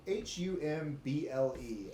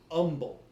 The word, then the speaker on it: Humble: it humble it is Umble okay H the H is silent and uh yeah they